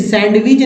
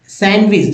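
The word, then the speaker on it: sandwich: पढ़ा जाता है वेनसडे अब देखिए सैंडविच नहीं सैंडविच सैंडविच तो यहां डी साइलेंट है हैंड करर चीफ नहीं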